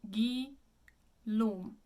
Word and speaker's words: Guillaume: But it isn't Guillaume Tell, it is Guillaume. Closed O.